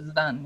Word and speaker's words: Zidane: Is that how you pronounce it? Zidane? Zidane, yes. Zidane.